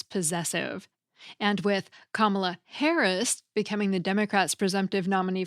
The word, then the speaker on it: Harris': apostrophe at the end: Harris' campaign (written H-A-R-R-I-S-apostrophe). Yes, even though you pronounce it as though there are two S's (Harris' campaign), there is no final S on the end if you're following AP style.